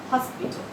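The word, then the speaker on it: hospital: আছে, এইচ ও এস পি আই টি এ, হসপিটাল। একটিতে এইচ এর উচ্চারণ সাইলেন্ট, অন্যটিতে এইচ এর উচ্চারণটি পুরোপুরি লক্ষ্য করতে পারছি আমরা।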